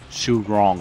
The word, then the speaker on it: Xu Huang: Shu Huang, I should say. It sounds like it says Shu Huang. But yeah, I pronounced that really wrong there, but Shu Huang.